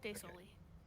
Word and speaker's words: De Soli: And the Sali, is that how you say it? I forgot how to say it. The Sali, I think is how you say it, right, Doc? Yes, De Soli. De Soli, got it.